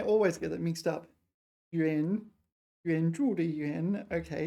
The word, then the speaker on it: 援: There's three of them. There's Juan. It could be Juan of the pronunciations. Juan Yuan or Huan Yuan, or what's the other one? Nuan. It's got the phonetic component. It is Yuan.